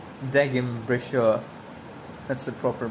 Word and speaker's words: Degenbrecher: Dejun breaker. No, I will go with the proper pronunciation. I will not be indoctrinated. It's Deim Brashau.